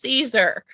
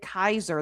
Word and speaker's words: Caesar: She's like, wait, it's Caesar. Because the whole Latin thing. Yeah, I actually looked it up. Apparently, the Romans would have pronounced it Kaiser.